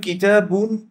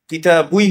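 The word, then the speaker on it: كتابي: এখন এদিকে যুক্ত করবো হচ্ছে ইয়া, ইয়া সাকিন, কিতাবুই হওয়ার কথা ছিল, কিন্তু এটাকে উচ্চারণের সুবিধার জন্য আমরা কি দিয়েছি, একটা কম্পেনসেটরি কাসরা দিয়েছি, কিতাবি।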